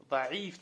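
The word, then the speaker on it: ضعيف: Даиф, там буква айн есть. Даиф. Даиф пишется так.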